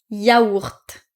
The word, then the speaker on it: yaourt: Donc ici, il y a deux L mais on ne les prononce pas. Bouilloir ça. Grenouille grenouille grenouille et ça yaourt.